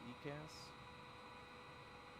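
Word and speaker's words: EICAS: how do you say that thing pinto the ecass pinto the what the ecass e-i-c-a-s yeah okay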